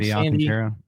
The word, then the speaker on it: Alcantara: Alcantara.